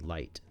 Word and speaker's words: light: breath so for example when I say the word light its Li gh T but you don't hear a G sound in